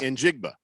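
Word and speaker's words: Njigba: Smith and jigba so he's in jig yes in jigba and he's a stud see as long as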